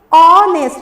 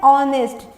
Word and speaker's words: honest: HONEST, क्या है ये, ऑनेस्ट, इसमें साइलेंट एच है। कैसे, इसका जो उच्चारण है, इसका जो प्रोनाउंसिएशन है, उसको हम लोग क्या बोलते हैं, ऑनेस्ट। ऑनेस्ट, एच साइलेंट हो गया और ऑनेस्ट, जिसका अर्थ होता है ईमानदार।